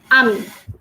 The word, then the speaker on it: ami: But if I read that word, if I read that proper whole word, I will pronounce that as AMI because the sound of letter A is A, the sound of letter M is M, and the sound of letter I is E. So that is becoming AMI.